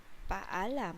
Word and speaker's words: paalam: And then for goodbye, that is paalam. Paalam. Paalam. Paalam. You have to pronounce every single letters.